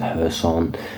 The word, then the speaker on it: Kherson: and that is whether kerson the city of kerson or somebody pronounce it hon it just depends how you want to pronounce it really whether that City in